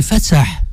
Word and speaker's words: Fatsah: Oui, comment la vraie prononciation du prénom? En algérien, Ouais. c'est Fatsah.